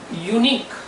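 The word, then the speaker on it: unique: 36वां शब्द है यूनिक। क प्रोनाउंसिएशन में आता है, लेकिन स्पेलिंग में के नहीं यूज होता है।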